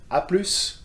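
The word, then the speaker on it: à plus: in this one and in the shortened version aplus we do pronounce the s so be careful with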